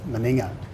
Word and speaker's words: Meninga: But obviously it's been an island name for many years, and they actually pronounce it Meninga. Meninga, do they? Meninga.